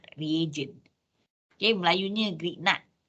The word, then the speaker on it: Grignard: So it becomes organometallic compound that is called Grignard reagent. Okay, Melayunya Grignard. Kalau rasanya saya pernah dengar dia pronounce as Grignard. Okay, Grignard reagent or Grignard reagent. Okay, doesn't matter.